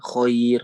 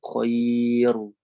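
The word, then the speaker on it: خير: ini adalah Line ya Khoir Khoir ini Lin kan maka dia dibacanya tetap tipis bukan choiru bukan seperti itu tapi Khoir koin ya tipis seperti itu mudah-mudahan bisa dipahami ini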